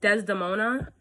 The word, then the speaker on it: Desdemona: do you say her name oh my god desdemona yes um his daughter am marrying the fellow